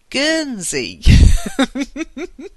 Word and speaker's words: Guernsey: And she wrote, I'm interested in visiting Guernsey. It's a G sound.